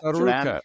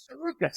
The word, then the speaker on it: Tsarouchas: You know, it's Tsarouchas. It's the same as tsunami. Tsunami, yeah. Tsarouchas. Tsarouchas, exactly.